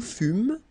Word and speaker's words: fûmes: Okay, then, nous fûmes, final S not pronounced.